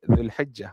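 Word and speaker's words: Zulhijjah: kita sebut Zulhijah kan dia dia macam seolah-olah ada dua J kan kalau bahasa Melayu kita tulis dengan 1J kan sebab ejaan dia bahasa Melayu begini tapi dalam bahasa Arab seolah-olah ada dua jim lah di situ.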